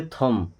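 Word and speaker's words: thumb: अब ये बी होगा साइलेंट। क्या पढ़ेंगे? थंब।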